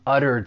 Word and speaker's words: utter: For pronunciation, the verb has 2 syllables. The stress is on that first syllable, utter. But what I'd really like to point out is that T, I am going to pronounce it as a flat T. It's going to sound like a soft D.